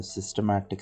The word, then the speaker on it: systematic: simple random sampling then a systematic sampling not systemic sampling students used to mispronounce it as systemic sampling then we have uh